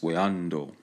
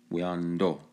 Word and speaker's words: Oueanto: Here's their terminology in the language pronounced Oueanto. Okay, the T is pronounced like a D, do, Oueanto, as we'll see up ahead.